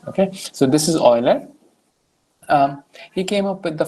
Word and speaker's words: Euler: Okay, the way to read this is Euler. Okay, instead of just writing, I don't know, people come up with crazy pronunciation. Okay, so this is Euler.